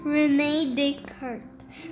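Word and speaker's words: René Descartes: he lived in france he was a french guy so he had a french name his name was reneed the cards pronounce renee descartes this may sound like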